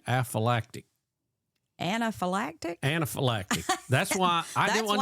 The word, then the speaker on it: anaphylactic: Anaphylactic. That's why I didn't want to say it right. Say it. Yeah. Anaphylactic. Alpha-phylactic.